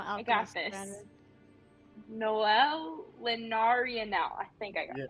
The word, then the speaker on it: Nólelinaraniel: Nólelinaraniel.